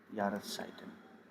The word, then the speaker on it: Jahreszeiten: We have seasons and we call it Jahreszeiten. Jahres, how do you pronounce it? It's Ja, Jahres, Ras, Ras, Zeiten, Jahreszeiten.